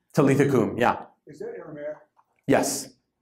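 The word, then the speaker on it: Talitha koum: I don't know if I'm pronouncing this correctly. Talitha Kum? Talitha Kum, yeah.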